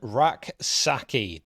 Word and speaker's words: Rak-Sakyi: And also, Rak-Sakyi, which, by the way, I'm reliably informed that is the correct pronunciation because it is spelt Rak-Sakyi.